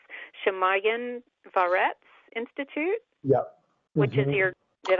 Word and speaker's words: Shamayim V'Aretz: So next question, I'm so curious about this, the institute that I can't pronounce, Shamayim V'Aretz Institute?